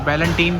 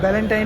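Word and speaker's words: Ballantine: बैलेंटीन क्या बोलते हैं इसे? बैलेंटीन, इसकी प्रोनाउंसिएशन कैसे जाता है? जी, बैलेंटाइन ही है इसका सिंपल कोई प्रोनाउंसिएशन। कोई कहते हैं बैलेंटीन।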